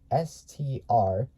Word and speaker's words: Strachan: Then Strachan, I think it's spelled S-T-R-A-C-H-A-N.